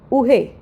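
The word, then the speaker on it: oreille: क्या बोल सकते हैं इयर उअर उअर से हम बोल सकते हैं उरे उहे दैट्स द राइट प्रोनंसिएशन।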